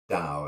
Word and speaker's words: Tao: really known and so that system of writing it as ta our ta o for Dow as in Taoism is and some people do still call it Taoism because that's how it's written but they don't realize it's actually supposed to be plants Taoism and that letter there is a D and a T kind of implied at the same